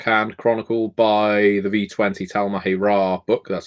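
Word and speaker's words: Tal'Mahe'Ra: By the V20 Talmahi Ra book, that's how you pronounce it, and use the Chronicle in the back of it.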